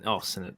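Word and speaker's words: Sennott: But yeah, Sennett. That's how you pronounce the name.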